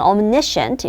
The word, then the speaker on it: omniscient: 발음을 할 때 보세요. omnipresent는 omni 앞에 가고 액센트가 그 다음에 omniscient 이건 omniscient 이렇게 말하고 이건 omnipotent 이렇게 말해요. 웃겨.